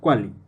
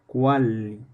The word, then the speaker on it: cuali: An example in Nahuatl is cuali. Not quali, but cuali. Anyway, nowadays many Nahuatl speakers don't pronounce it large, but as a normal L.